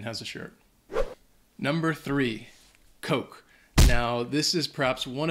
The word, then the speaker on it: Coke: to pronounce it but make sure that you are saying it with the long o sound Coke we had a student a while back who pronounced it with the short o and kept saying all